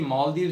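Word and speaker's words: Malé: अब यहाँ पे देखिए माले की जो स्पेलिंग है ना वो है MALE और उसके ऊपर अपोस्ट्रोफी कॉमा। अब MALE का अगर हम इंग्लिश में प्रोनाउंसिएशन करते हैं तो वो उसको बोला जाता है मेल। ठीक है, मेल और माले के अंदर सिर्फ एक कॉमे का डिफरेंस है, अदरवाइज मेल का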